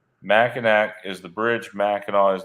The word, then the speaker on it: Mackinac: it now okay so Anonymous woman here says it's Mackinac because it's French um people who don't know it always say it wrong it's been something we've laughed at Forever she says Mackinac is the bridge Mackinaw